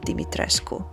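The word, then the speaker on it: Dimitrescu: And yes, her surname is pronounced as Dimitresco.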